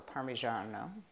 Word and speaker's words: parmigiano: cup of Parmesan cheese or parmigiano prefer the true Italian pronunciation I'm going to add